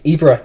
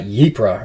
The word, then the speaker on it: Ypres: It's in Belgium, and it's pronounced Ypres, not Ypres, or whatever I was doing.